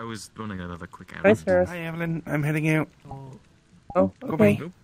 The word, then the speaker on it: Evelin: Uh, it's technically pronounced Evelyn, but I don't mind.